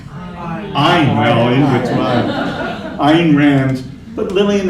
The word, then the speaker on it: Ayn: Is it Anne or Ayn? I never know. Well, I don't know. How do you pronounce that name? Ayn.